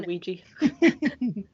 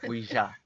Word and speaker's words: Ouija: Like, how do you fucking pronounce that? God, a Ouija board? Midsommar. A Louise board? I say Ouija.